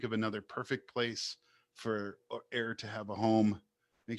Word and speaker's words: Err: If you can think of another perfect place for Air to have a home, make sure you let